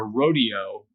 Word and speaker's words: rodeo: circle because in a rodeo you go around in a circle but in English and especially American English it's pronounced Rodeo in class I heard